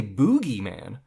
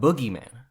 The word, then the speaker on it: boogeyman: I say it either you say boogie man yeah like like dancing yeah not Boogeyman no not like booger or booger okay touche um I